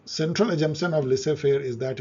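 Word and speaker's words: laissez-faire: French है, इसका pronunciation में लिसे फेयर पढ़ते हैं।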